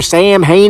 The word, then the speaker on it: Samhain: "Sam Hain, you idiot! The original celebration of Halloween," he said. "Oh," I said. And folks, it's actually pronounced Samhain.